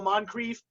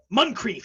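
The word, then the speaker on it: Muncrief: board um what's the guy's face ma dale moncrief i'm saying his name wrong something something mcrieff richard muncreef yeah yeah 62.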